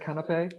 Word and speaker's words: canapé: So I did pronounce it correctly earlier, canapé?